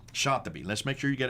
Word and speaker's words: al-Shatibi: Now, how would you pronounce his name? Shatibi. Shatibi.